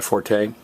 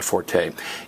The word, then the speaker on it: forte: might have heard that phrase that's not my forte and it technically it's supposed to be pronounced it's a it's a time word it's